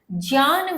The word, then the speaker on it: ज्ञान: जो उच्चारण करते हैं, आप जो अधिकांशतः सुनते आए हैं, वो आप करते हैं ज्ञान, जबकि इसका सही उच्चारण होता है ज्ञान।